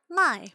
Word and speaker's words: Mai: Mai, pronounced like my, by the way, follows after her despite her yelling.